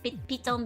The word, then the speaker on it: Python: Pon being the Dutch pronunciation of Python.